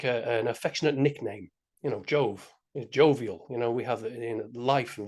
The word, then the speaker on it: Jove: So the J would have been a Y, O would have still been the O, the V would have been a W, and the E at the end of the word would have been pronounced A, right? So if you say Jove in the Latin, you get Yahweh, which I found, very, very similar to Yahweh.